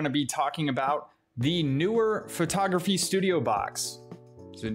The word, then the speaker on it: Neewer: be talking about the newer photography studio box is it newer or newer it's spelled knee wear but apparently it's pronounced newer i don't know i